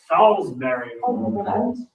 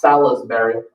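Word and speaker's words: Salisbury: where they go to college I went to Salsberry that's how you pronounce it not salesberry sber they pronounced things weird down there like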